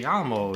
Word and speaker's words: llamo: Me llamo is Spanish for my name is, and the double L is pronounced like a Y. Llamo.